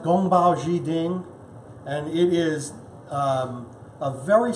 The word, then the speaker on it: Gong Bao Ji Ding: of this dish is compiled chicken it is pronounced Gong Bao Zhi Jing and it is a very simple dish and